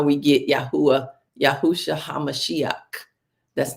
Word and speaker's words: Yahuwah: Those letters are pronounced Yahuwah. The first letter is a Yod. It's pronounced Y. The second is a Hey. It's pronounced Ah. The third letter is a Ua. It's pronounced Yod, Hey, Ua, Hey. That's how it's pronounced.